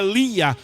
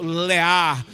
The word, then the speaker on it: Lia: Ele tinha a sua filha Lia, ou na pronúncia em língua original, Leá.